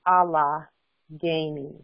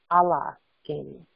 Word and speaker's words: Allegheny: And it really is actually pronounced Allegheny. Allegheny.